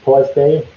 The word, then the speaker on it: Torsdag: They also say it's pronounced Torsday with the G as Y.